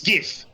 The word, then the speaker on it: GIF: because I'm thinking about how people tend to pronounce the G or G. It's GIF, by the way. And and and all this stuff. I don't care what the creator says. It's GIF. It will forever be GIF.